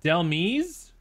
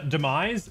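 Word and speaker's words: Dhelmise: here tell me dumb oh it's pronounced demise oh i mean that makes sense just the h threw me off i guess all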